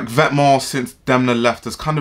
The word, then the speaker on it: VTMNTS: And I don't know how to pronounce this because it just seems like you pronounce it Vetements.